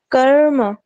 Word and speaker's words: कर्म: इसलिए हमने कोशिश करनी है कि रे अर्थात र और म के बीच में अ की उपस्थिति का आभास भी ना हो।